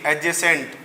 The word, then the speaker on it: adjacent: याद रखना है, जब ए और जे के बीच में डी आता है तो उसका प्रोनाउंसिएशन डी उसको वेनिश हो जाता है, तो क्या बनेगा?